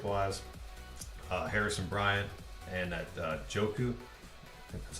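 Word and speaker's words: Njoku: for DraftKings ownership wise Harrison Bryant and that joku that's how you say his name so those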